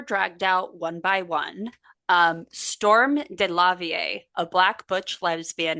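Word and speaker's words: Stormé: It's Storm with an E over a hyphen, but I looked at the pronunciation and it's just Storm.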